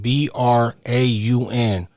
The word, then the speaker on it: Braun: These got a white boy with the name spelled B R A U N and they out here pronouncing it brown.